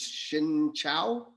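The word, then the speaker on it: xin chào: years let me see in vietnamese the right way to say hello is shin chao yeah so shin chao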